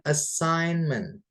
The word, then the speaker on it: assignment: Kemudian assignment. G-nya nggak usah dibaca ya, bukan assign gitu, bukan, tapi assign. Jadi ada hurufnya tapi nggak dibaca.